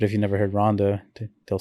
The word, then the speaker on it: Ronda: But yeah, people like, for example, Ronda Rousey, they'll say Honda Rousey, even though they know specifically it's Ronda. But if you never heard Ronda, they'll say Honda.